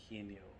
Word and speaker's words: Eugenio: My name is Eugenio Padilla, and you pronounce that with the E, and then the he as in him, ni as in knee, and then O.